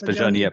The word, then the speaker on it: Pajaniappane: So once you say in It's French, you written don't in pronounce the E. French. It Okay, is. fine. It is. So So it's Pajaniappane.